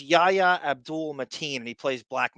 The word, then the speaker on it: Yahya: evil ocean master, while Yahya Abdul-Mateen II is expected to play a larger part in the narrative as Black Manta. Amber Heard will also... I think it's pronounced Yaya.